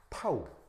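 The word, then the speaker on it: τ: 요 D라고 그다음에 이제 여기 보시면 묘한 표시가 있는데 이렇게 쓰는 알파벳 기호인데 그리스 알파벳입니다. 발음은 타우.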